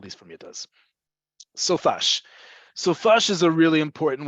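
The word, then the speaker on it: סופ״ש: So Sofash, and we pronounce it as a word, Sofash.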